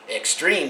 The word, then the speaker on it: Xtreme: mid 1990s with the extreme name and it's spelled x t r e m emphasize the x part as well but when this team